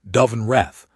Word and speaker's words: Dove-and-Reth: Each time she said my full name, Dove-and-Reth, and each time she said it with the particular emphasis the Velaroth give to names of significance, where the first syllable is held a fraction longer than the second.